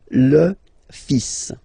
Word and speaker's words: le fils: So it's le, and then even if you've got this L, well, basically you don't pronounce it, and then strangely you pronounce the final S. Le fils.